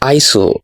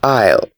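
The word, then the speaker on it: aisle: to the next one would you call this ISO it would be wrong because the S is silent it is ale the next one the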